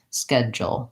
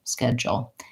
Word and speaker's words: schedule: the whole sound and the way to make an L at the ends of words is to make sure that you have a little bit of an O or a schwa Samba for it all all my tongue does still lift and touch behind my teeth but the back of my tongue stays in that position for the sound schedule schedule you'd probably